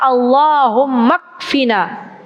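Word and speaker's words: اكفنا: Allah, tulisannya ikfina. Kalau mau nulis bahasa Arab ada alifnya, tapi alifnya tuh nggak kebaca. Allahumma ikfina, tapi bacanya Allahumma kfina.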